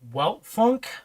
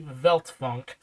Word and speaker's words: Weltfunk: a different alias, and some people would pronounce it Weltfunk, but it's actually Veltfunk, if I remember correctly. Because the W's are pronounced like American V's a little bit.